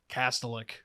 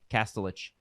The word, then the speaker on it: Kastelic: Kastelik. How dare you? Or if it's the actual, it's Kastelich. And anytime you see an IC, it's an itch. Oh. That's how you're supposed to pronounce it.